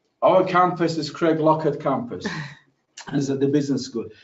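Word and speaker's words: Craiglockhart: business school is housed Craig Lockhart as people also United Kingdom called them what we call it reg locket in Scotland the pronunciation of Craig block hard is Craig locket I remember when I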